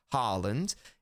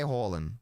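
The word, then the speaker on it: Haaland: good I'm doing the Norwegian pronunciation both are correct it's it's it's accurate to say Harland it's also accurate to say Harem both are correct so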